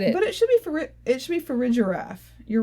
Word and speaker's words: Farigiraf: But it should be Farigiraf. You're right. Farigiraf. I'm trying to actually look at it and read it closely now. Use my skills. Farigiraf.